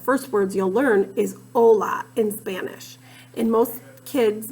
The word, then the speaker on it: hola: That's the first sound you hear, but actually the spelling of hola starts with a silent H.